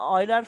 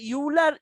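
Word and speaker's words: Euler: কিভাবে লিখতে পারি, আপনি যদি অয়লার ফর্মটা এটাকে ইউলার, ইংলিশে ইউলার মানে লিখতে গেলে লেখে তো, বাট এটার উচ্চারণ অয়লার, OILER, অয়লার। তো এখন এই জিনিসটাকে যদি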